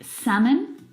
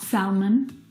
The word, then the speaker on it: salmon: in them words like salmon not salmon half not half H would talk walk all of these words have a silent l in them which makes them a